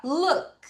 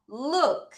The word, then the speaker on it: look: look. 다시 look. 얘들아, L 소리 천자, L 그 혀를 윗니 뒤에 붙이는 거 look.